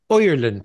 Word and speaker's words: Ireland: So the I is pronounced oi, oi. And the D is pronounced like a T, like a soft T. So the word Ireland becomes Ireland.